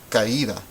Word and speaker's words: caída: How many syllables do you hear? Caída, caída. You should hear 3 syllables. Ca, I, and da.